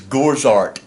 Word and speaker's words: Gorzart: way it's pronounced uh i just uh spell it like mozart and uh and call it gorzar so anyway uh we